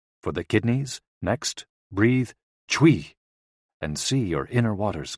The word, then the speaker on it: chui: associated with the lungs c-h-u-i pronounced like Chui with a forceful exhale which is also